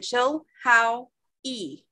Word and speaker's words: Chilhowie: Town of Chilhowie. Does it give a pronunciation? Did you tell you how to pronounce it? Oh, thank you, Kelly. That was nice of you. Like we were saying, chill, how, e.